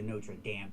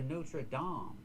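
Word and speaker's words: Notre-Dame: No, we don't say the Notra Dam Cathedral. It's the Notraam. We need the O.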